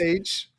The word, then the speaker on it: Shongaloo: S-H-O-N-G-A-L-O-O. Shongaloo. I don't care how you pretended to spell it.